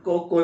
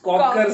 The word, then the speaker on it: Cocker: It's not Coco Spaniel. फिर It's Coco- it's Cocker Spaniel.